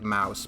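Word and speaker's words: Maus: yeah I'm pretty sure it's pronounced like Mouse but I don't want to make you think it's spelled the same way as American oh yeah there are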